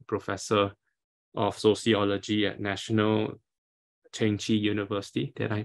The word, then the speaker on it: Chengchi: Chiang is Associate Professor of Sociology at National Chengchi University. Did I pronounce it right?